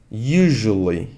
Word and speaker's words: usually: esse like significa nada usually e olha a pronúncia dessa palavra US normalmente US usually usually como se fosse um J usually normalmente you know